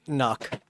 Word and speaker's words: NUC: So Nuke. Nukes. Nukes. Yeah. I say it knock. That is the correct way to say it. It's okay. Yeah, like a Canuck.